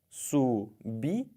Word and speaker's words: subitem: Subitem. E é assim que se fala e é assim que se escreve.